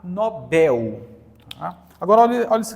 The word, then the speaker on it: Nobel: quê gente oxitona então se você pronuncia funil anel pastel Você vai pronunciar Nobel tá agora olha olha